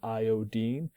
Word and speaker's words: iodine: So even though this is spelled I-N-E, we still pronounce it fluorine, chlorine, bromine, iodine. This way it's different from fluoride, chloride, bromide, iodide.